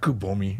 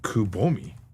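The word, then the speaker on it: くぼみ: It's not kubi. It's echoable. Dimple. Okay. Kubomi.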